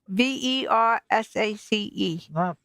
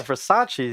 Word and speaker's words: Versace: I have B v v e r s a c e verace verace yes it is yeah Versace you're just saying it wrong well that's what I was spelling to you Versace Versace the woman's like oh